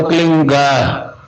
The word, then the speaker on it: क्लीं: की मात्रा और बिंदी, उसका उच्चारण होगा क्लींग। गा की ध्वनि निकलेगी पीछे।